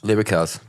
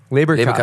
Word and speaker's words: Leberkäse: Leberkäse. Leberkäse.